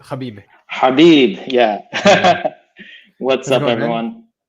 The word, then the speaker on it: Habib: That's how you say it, Habib.